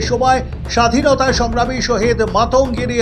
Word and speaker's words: মাতঙ্গিনী: সময় স্বাধীনতায় সংগ্রামী শহীদ মাতঙ্গিনী হাজরার নাম ভুল উচ্চারণ করে মান্তাগিরি হাজরা বলায় তীব্র কষোপ ছড়ালো বাঙালি